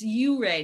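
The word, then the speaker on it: Ouray: perennial favorite or the uray it's you rey not right it's pronounced many different ways okay whatever however you feel compelled to pray my way yeah right book shop in hooray colorado and that's on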